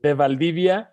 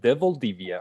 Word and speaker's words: De Valdivia: De Valdivia, and I think like in English it would be like De Valdivia or something Okay.